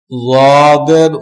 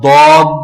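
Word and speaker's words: ض: আমালুস সুন্নাহ কিতাবে বর্ণিত কোরআন তিলাওয়াতের প্রচলিত ভুল সমূহের মধ্যে যাদের উচ্চারণটা একটু বলে দিলে উপকৃত হব। যাদ, এটা দদ না, আমাদের দেশে বলে দদ, অক্ষরটা দদ না। আর একদম জদ না, একদম জদ না, মাঝামাঝি।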